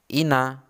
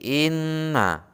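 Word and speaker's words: إنّا: contoh berikutnya adalah atau berlipat bukan Ina tetapi Inna dan membacanya itu seperti orang sengau suara keluar antara dari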